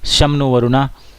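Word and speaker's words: शं नो वरुणः: द एंबलेम of Indian navy contains the motto समनो वरुणा pronounced शमनो वरुणा which means B auspicious to अस ओ वरुणा।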